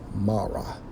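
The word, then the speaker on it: מרה: to the Hebrew songs H 4755 pronounced as Mara which means bitterness okay foreign okay it's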